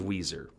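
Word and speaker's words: Weiser: but fine boise weezer i take exception with the city of weezer that's how you that's how the locals want you to say it it's spelled w e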